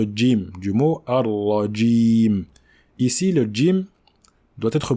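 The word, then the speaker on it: جيم: sont deux sont différents lorsqu'on prononce le jim dans la langue arabe il ya comme une petite pression sur la lettre contrairement au gie de la langue française donc il faut dire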